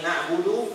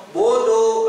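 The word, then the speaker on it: نَعْبُدُ: sedikit iyaka coba iyaka na'budu na'budu tipis na na Ain ngalir na na Budu Budu ah Budu tipis Budu Budu to bodoh to itu nama tebal n Budu coba buudu Jadi bukan o bunyinya ya jadi Budu Budu buduik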